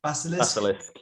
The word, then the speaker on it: Basilisk: I'm going to go with track 4 because the breakdown at the end, I don't know how to pronounce it, Basilisk? Basilisk.